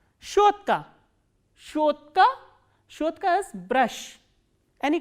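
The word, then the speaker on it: щётка: Shotka.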